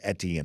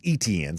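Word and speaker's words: Étienne: well, and I guess I've been mispronouncing it as Etienne. I've been told it's Etienne, so let me make sure I give the long E sound there at the beginning there on that.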